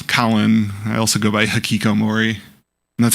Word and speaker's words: Hikikomori: I also go by Hikikomori. And that's how you pronounce the name, by the way.